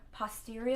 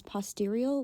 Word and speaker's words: postural: POTS stands for postural. So I'm stopping real quick because I pronounced postural as posterior, which is a completely different thing.